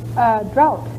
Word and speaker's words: drought: Drought is entirely correct. Is there any other pronunciation for that, Joan? Draft, I think, or... Yes, I have heard that sometime, and I think the pronunciation drought is also allowed. But drought, you're right, is the correct pronunciation.